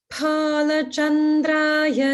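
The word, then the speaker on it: Bhalachandraya: Om Palachandraya Namaha. Om Palachandraya Namaha. Om Palachandraya Namaha. Good. Just try for more of the Mahaprana, pa in Pala.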